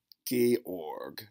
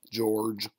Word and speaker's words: Georg: is pronounce this mess Georg is the first name give me a hard G sound GUP Georg there's no e on the end this is not George this is Georg last